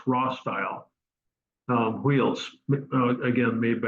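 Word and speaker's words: Rostyle: o being small and often pronounced raw style um Wheels again made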